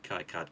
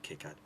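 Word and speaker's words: KiCad: card or kit card you can pronounce it both ways Kai card kick ad uh that will allow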